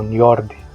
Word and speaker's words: Njord: O nome Njord, pronunciado aproximadamente como Njord em nórdico antigo, tem raízes profundas na linguística germânica.